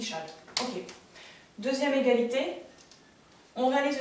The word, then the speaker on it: Chasles: La relation de Chasles. Oui, ici, c'est la relation de Chasles. Qui s'écrit d'ailleurs Chasles. Et on dit Chasles.